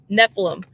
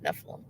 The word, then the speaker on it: Nephilim: Yeah, Nephilim. That's it. That's how they're pronounced, Nephilim.